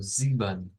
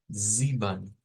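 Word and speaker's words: sieben: este caso al alemán vamos a pronunciarlo como ziban ziban eh No es con una e al final sino que es con unua y el número siete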